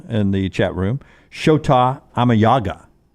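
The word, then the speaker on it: Shota Imanaga: thanks to jerbo and the the chat room sha amay Yaga sha amay Yaga that's the actual pronunciation the way he said so I gave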